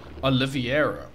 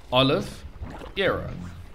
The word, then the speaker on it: Oliveira: name I've heard it I kept calling him calling him oliviera how that doesn't even work so it's Olive Aaron yeah he was previously